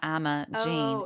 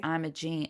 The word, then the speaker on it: Imogene: It's not Imogene. It's Imogene, which in other places, I want to say like in the UK, they say Imogen, but for her, it's Imogene.